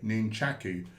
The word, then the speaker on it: nunchaku: That's the actual way you pronounce it, by the way, nunchaku.